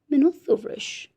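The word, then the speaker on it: Μινώταυρος: The Greek pronunciation is Minothauros.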